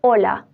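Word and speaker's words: hola: after or before for that like the word Ola Ola means high but we don't pronounce a we read it from o h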